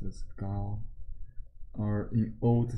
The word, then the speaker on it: 高: The Chinese family name comes first, so this pronounced as Gao, or in old spelling, in old books spells K.